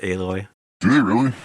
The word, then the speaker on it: Aloy: You play with Alloy. Yeah, Alloy. Eloy. Aloy. Alloy. Like metal alloy. I know, thought. but they pronounce it Aloy.